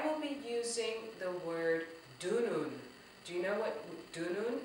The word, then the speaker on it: dunun: I will be using the word dunun. Do you know what dunun is? It's spelled D-U-N-U-N. I'm actually surrounded by dununs.